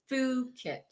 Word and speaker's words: Phuket: It is pronounced Phuket.